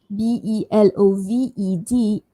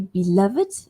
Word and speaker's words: beloved: The words beloved, I can say beloved or beloved. So in some dictionaries it says that you can say it with the d sound without the extra syllable.